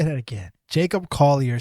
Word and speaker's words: Collier: I kind of stutter still, but it's Collier.